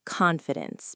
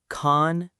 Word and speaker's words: confidence: 3 syllables. Confidence. The stress is on the first part, con. Let's break it down slowly. Con, like con in control. Fee, like fee but shorter. Dense, like dense but softer at the end.